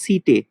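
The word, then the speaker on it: setae: আর এদের লোকোমোটারি অর্গানের নাম হচ্ছে সিটে, প্রোনাউন্সিয়েশনটা ভালো করে মনে রাখবি, সিটে, ACTAE, সিটে, ঠিক আছে, এটা ভালো করে মনে রাখবি, ভেরি ভেরি ইম্পর্টেন্ট।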